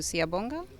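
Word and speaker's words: Siyabonga: beautifully now how do i say thank you siabonga yes yes thank you for having me now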